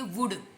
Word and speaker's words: would: वुड you please, इसको वुल्ड नहीं बोलेंगे, क्या बोलेंगे, वुड। वुल्ड नहीं है, वुड।